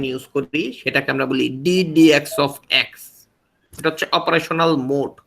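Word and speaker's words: d/dx: করি সেটাকে আমরা বলি ডিএক্স অফ এটা হচ্ছে অপারেশনাল মোড কি বলা হয় অপারেশনাল মোড অনেকে বলে ডি বাই ডি এক্স এরকম ভাবে কেউ বলবেন না উচ্চারণটা হচ্ছে ডিএক্স অফ তারপর আমি যার সাপেক্ষে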